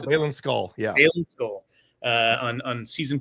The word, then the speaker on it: Baylan Skoll: Is that how you pronounce it? Yeah, Baylan Skoll.